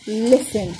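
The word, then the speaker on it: listen: طيب هنا بقى في قاعده شاذه شويه ان التي لما تكون موجوده هنا مع الليسن سايلنت ما بننطقهاش قبلها اس. طب الاي هتقول صوتها يبقى ليه ل س ن ليسن.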